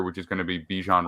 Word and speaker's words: Bijan: is going to be Bijan Robinson or Bajan I believe is pronounced now I understand um